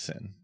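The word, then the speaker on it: Xin: think it was sin it's pronounced sin King sin K sin because we wanted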